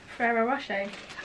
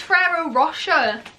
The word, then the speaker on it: Ferrero Rocher: Ferrero Rocher. Everyone says it's Ferrero Rocher. Wow. It's not, is it? No, it's Ferrero Rocher.